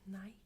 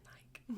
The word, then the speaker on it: Nike: The answer is Nike. I think Americans say Nike. Nike. But we say Nike. Or Nikki. No, not Nikki. No, that's a name.